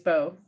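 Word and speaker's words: Beau: u's line o b e a u is bo bo bolin and so basically when you have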